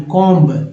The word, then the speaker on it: comb: में ब बोलना है, कॉम्ब, है ना, सब कॉम्ब। कॉम्ब B नहीं बोले, कॉम्ब B थोड़ी बोलते हैं, या COMB गलत हो जाएगा।